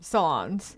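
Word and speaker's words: Solondz: Solons.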